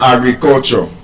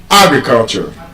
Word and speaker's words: agriculture: When you have any quadrisyllabic word, a word that is 4 syllable and above, and that word ends with ARY, ISM, IZE. That word will be stressed on the first syllable.